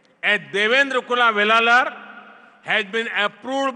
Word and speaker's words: Devendra: I said that their name, Devendra, rhymes with my own name, Narendra.